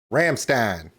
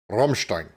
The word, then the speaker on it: Rammstein: words are pronounced differently for instance Ramstein Rammstein right they're both correct but when I said